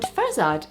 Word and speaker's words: Fozard: And Fozard, F-O-Z-A-R-D, which people definitely don't pronounce correctly ever.